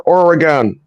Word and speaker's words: Oregon: oron or a gun like think of or a gun or or Oregon Oregon yeah Oregon Oregon